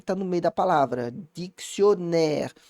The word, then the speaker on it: dictionnaire: Bom, se você souber pronunciar a palavra, pode te ajudar, tá? Pode, cuidado. Por quê? Porque se eu não tivesse esses dois N's, o O seria mais fechado. Então, o que é dobrar uma consoante faz? Normalmente, ela abre a vogal anterior.